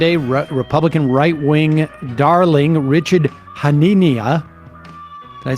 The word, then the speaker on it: Hanania: Yeah, I tried to draw a parallel between his last name, Hanania. Am I saying that wrong? Nazinia. I always thought it was Hanania, but... I mean, Hanania. Like inane.